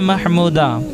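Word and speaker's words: Mahmooda: की मानी एहसान करने वाली अली नाम है महमूदा महमूदा की मानी काबिल तारीफ और इसकी स्पेलिंग है एम ए एच एम यू डी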